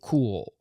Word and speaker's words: Kuoe: And this company, Cool, and yes, I did look it up. That is how you pronounce it. They put it in um katakana on their website for how to pronounce it.